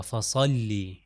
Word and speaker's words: فصلی: دیکھیے، فصلی لربک ونحر، صاد سے ادا ہوگا فصلی۔ اب یہاں پر اگر